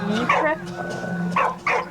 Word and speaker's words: Ypres: How do you pronounce it, guys? Good luck. That's Ypres.